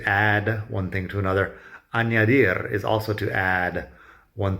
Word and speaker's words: añadir: Añadir is also to add one thing to another. It's got the ñ, añadir.